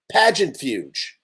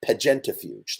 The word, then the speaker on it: Pageantafuge: lock two pageantfuge magentafuge oh i was saying it wrong it's pagenta pat that's supposed to be pronounced progenitofuge i made up that word actually it's never existed before today but pagentafuge that's what it is um please put within